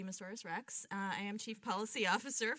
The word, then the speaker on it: Moussoris: appreciate being here so my name is Katy miss Oris pronounced like a dinosaur Katy miss where's Rex I am chief Policy